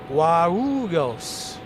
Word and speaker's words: Guarulhos: So yeah, that was Herbals' pronunciation, but it's Congonhas and also Guarulhos.